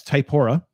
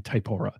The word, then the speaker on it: Typora: of word count option and um i use typhora um i don't know that's fine i always get hung up on pronunciation i'll just yeah i'll say it again typora it's a it's a free open source app